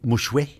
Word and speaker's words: mouchoir: And it didn't take too long before I figured out it was directly from the Acadian French, and they used to say mouchoué.